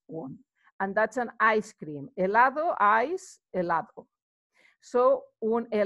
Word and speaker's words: helado: and that's an ice-cream helado eyes allahu so when a ladder remember H is not pronounced we'd have los olivos